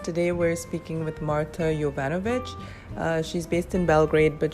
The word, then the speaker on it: Jovanovic: it that's absolutely it Jovanovic yovanovich yes so I had it right except I didn't change the J to the Y now I said you're